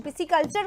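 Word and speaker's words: pisciculture: पिसिकल्चर का spelling PISCI होता है, पिसिकल्चर। तो SC जो है वो यहाँ नहीं दिया गया, पिसिकल्चर, क्योंकि साउंड ऐसा ही लगता है कि हम बोल रहे हैं पिसिकल्चर, इसलिए पिसिकल्चर का मतलब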